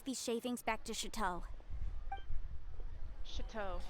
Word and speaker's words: Chateau: Chateau. That's how you say it. Chateau. I say shit-toe.